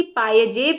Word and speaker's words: पायजेब: लोग पायल कहते हैं लेकिन इसको जो है वो शुद्ध शुद्धतम तरीके से इसका जो उच्चारण किया जाता है वो पाय जेब है है ना उस समय